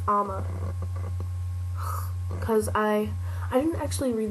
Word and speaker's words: Amma: Oh, in the book, there was a librarian named Marion, and Amma, they pronounce it Amma in the movie, which I didn't like. It's Amma.